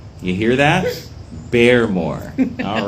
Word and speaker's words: Baremore: here um because some people seem to continuously mispronounce it how do you say your name Suzanne beore beore you hear that beore all right okay let's get to the questions